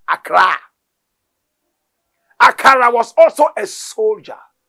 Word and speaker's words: Accra: land today called Ghana called akara pronunciation Accra akara was also a